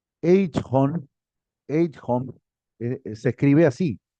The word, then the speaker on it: Eichhorn: Eichhorn, Eichhorn, se escribe así, J.